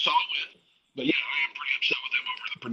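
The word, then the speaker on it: Samhain: Sam Hayne, is that how you pronounce it? Yeah. So Salt, it doesn't make zero sense.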